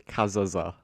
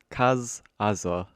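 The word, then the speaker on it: Cazazza: Next, we have Monty Kazaza. Kazaza. Yep, that's how you say it, I'm pretty sure.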